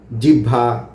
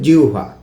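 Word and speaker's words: জিহ্বা: অনেকে আমরা জিহভা জিবলা এরকম নানা রকমের উচ্চারণ। কিন্তু এটার মানে সঠিক উচ্চারণ বা প্রমিত উচ্চারণ হল জিউভা।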